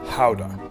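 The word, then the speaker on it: Gouda: super progressive too good a cheese is actually pronounced pow done did the Dutch invent cheese yeah all right yeah I've been calling it good it for a while so I'll try to correct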